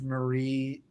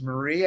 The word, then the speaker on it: Marie: Growing up, I was always a fan of Marie Severin. Is that how you pronounce her last name? But I didn't. I guess as a kid, I didn't realize that it was Marie.